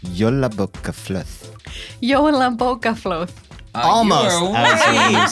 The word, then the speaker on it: Jólabókaflóð: A festive phenomenon with another unpronounceable word. Hollabokaflu? Jólabókaflöð. Jólabókaflóð.